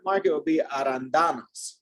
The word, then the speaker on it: arándanos: Arándanos. Arándanos. Yeah, sometimes when you see this little accent mark, you just kind of have to, it means you shift the emphasis.